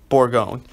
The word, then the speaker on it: Bourgogne: just read this okay I've never pronounce it before so it's French your 10 battleship for Bourgogne before going that's how I'm gonna pronounce it Bourgogne I mean you can